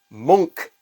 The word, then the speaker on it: Munch: this this painting here his name is Edvard monk edberg Edvard Edvard monk not Munch The only reason I bring that